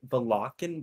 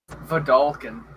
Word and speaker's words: Vedalken: Valakan? What is that? Vidalcan. It's the Vidalcan.